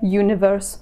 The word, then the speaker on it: universe: Слово universe начинается на звук и. И, что звучит как согласный звук э, universe.